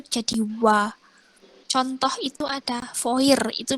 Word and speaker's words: fois: Contoh itu ada foir, itu bacanya berarti wa. Wa. Kemudian ada moi, bacanya berarti moi. Terus ada voice, FOIS, itu bacanya foi.